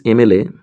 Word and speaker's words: MLA: Friends, MLA, whenever we write down MLA, this M is pronounced like this, EM.